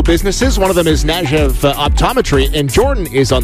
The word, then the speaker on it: Kniaziew: One of them is Kniaziew Optometry, and Jordan is on the line. Jordan, how close did I get to that name? You nailed it. Kniaziew.